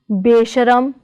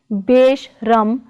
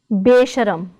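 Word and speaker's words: ਬੇਸ਼ਰਮ: Other examples are besharam, not beshram but besharam.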